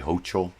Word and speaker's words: Hochul: now to the governor of New York Kathy hokel good morning to you governor oh I guess I mispronounced it's Kathy hokel though did I say hochul or well anyway Kathy hokel governor of New